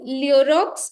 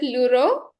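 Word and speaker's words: Lheureux: Now, do you know Leorox is a character in which work? Leorox, Leureux. I think it's pronounced as Leuro, but yes, for your convenience, I'm pronouncing it as Leorox.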